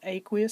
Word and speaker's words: aqueous: happens that's called an aqueous that's how you pronounce that it's aqueous solution that means that the solvent for that